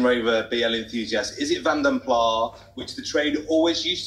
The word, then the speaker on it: Vanden Plas: I'm going to be chastised for my pronunciation yet again. Lot 140, it's the 1976 Vanden Plas.